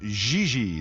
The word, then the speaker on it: JJ: No, I mean JJ. Gigi. JJ. En français, you pronounce G like J and J like G. She may very well be JJ in America, but in France, she is Gigi.